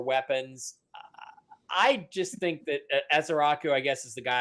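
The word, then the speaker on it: Ezeiruaku: Pronounce that for me, Mike, would you? Oh, yeah, Ezaraku. I'm sorry. What, Jim? Yeah, who came in with that? Anthony Ezaraku?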